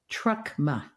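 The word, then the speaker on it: Truckma: the label too yeah trucka how do you spell it t r u c k m a like Karma only with trucks that's so good the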